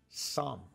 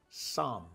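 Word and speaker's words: צום: Hebrew word that is spelled T-S-O-M, but is actually pronounced som. And from the Hebrew root, fasting means to cover your mouth. So the Hebrew word, T-S-O-M, som, means to cover your mouth.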